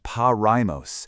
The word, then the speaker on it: Porajmos: Porajmos, and that's pronounced Pariah, is the Romani word for this genocide, and it translates to the devouring.